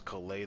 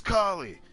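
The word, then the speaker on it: Collei: I really wish the way you say her name is Kole though, because Kole sounds cuter. But it's Kali.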